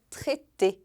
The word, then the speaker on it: traité: E o AI em francês tem som de E ou então de E. Por isso que traité se escreve com AI no meio.